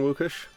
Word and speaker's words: Łukasz: You're one of the very few people that can pronounce my name very well. It's like most of the people just go with Lucas, so thank you so much for that.